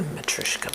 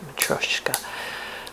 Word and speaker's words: matryoshka: of the m i I heard the Matuska but it the spelling's showing it more the pronunciation of matrioska matoska with a liquid u in there but they are um